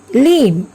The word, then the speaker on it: limb: Dam, limb. Here also B is silent.